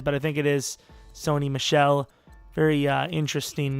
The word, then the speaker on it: Sony Michel: and apparently number 31, they took Sony Michel. I believe that's how you say it. Glad I looked it up because, I would have not. My personal guess would have been Sonny Mickle or Mikel. Mikel, I would say.